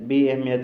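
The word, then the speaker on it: بی‌اهمیت: بعد لفظ بی اہمیت۔ بی اہمیت وہی بے اہمیت، یہ بھی تقریباً فارسی اردو ایک ہے، فقط تلفظ کا تھوڑا سا فرق ہے۔ بی اہمیت کیا ہے؟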